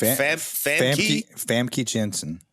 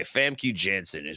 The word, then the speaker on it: Famke Janssen: Like Famke Janssen. Okay, Famke Janssen plays Dr.